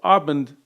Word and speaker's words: Abend: German a bit better, when the word ends in a D, which is a voiced sound, you devoice it. So Abend sounds more like Abend, like with a T at the end.